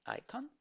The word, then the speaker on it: icon: Esta I es larga, entonces se pronuncia como icon.